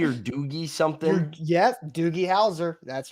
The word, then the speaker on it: Doogie: first word is though it's like is it doobie or Doogie something yes doie Hower that's right Doogie Hower